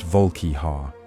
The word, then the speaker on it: Volkihar: These became the Volkihar, pronounced Volkihar, named for an archaic phrase meaning frost giant's fang.